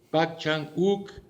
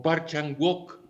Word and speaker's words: Park Chan-wook: Nos estamos refiriendo a Old Boy de Park Chan-wook, como se pronuncia en coreano, o Park Chan-wook, como se translitera escrituralmente.